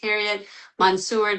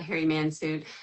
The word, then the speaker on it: Harriet Mansour: My Name is Harriet Mansour, not Harry Mansuit.